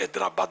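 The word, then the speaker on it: حیدرآباد: حیدر آباد بولو، مد بولنے کی ضرورت نہیں ہے.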